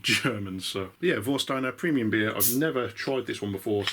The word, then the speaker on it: Warsteiner: in a bottle of vosteiner which i'm assuming that's how you pronounce it because um it's a german beer and w is pronounced as a v there so if i butcher